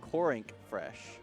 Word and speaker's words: Corink Fresh: Yeah, Corink it's not actually Pink Fresh. I apologize everyone. We were mispronouncing his tag. It is actually Corink Fresh.